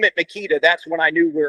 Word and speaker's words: Meketa: It's always Meketa. And if you know me, you know how to say it. Not unless you're from the pathetic Northwest, and you call it Meketa, Mekata.